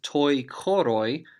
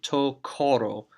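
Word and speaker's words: τῷ χορῷ: So you can either pronounce this as toi koroi if you want to, or most people, and myself included, drop that iota out of the pronunciation and just say to koro, to koro.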